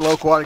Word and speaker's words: loquat: Gold Nugget Lowquat.